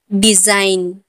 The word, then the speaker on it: design: जब एन से पहले जी आए तो जी साइलेंट होता है। जब भी एन से पहले जी आएगा तो जी साइलेंट होगा। एग्जाम्पल, डिजाइन, डिजाइन, DESIGN, यहाँ पर